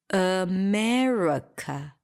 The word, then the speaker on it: America: the truth is that we don't pronounce any of those vowels because all of them are reduced to a schwa Amerika Amerika Amerika yes there is no aa in America and there is definitely no e in America and going back to